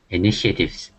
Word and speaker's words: initiatives: whatever you see t it's pronounced sh if it's in the middle of a word initiatives good okay initiatives designed